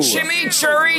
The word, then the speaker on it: chimichurri: the thing Wendy's new shimmy Cherry cheeseburger shimmy Cherry that's how you pronounce it let it roll off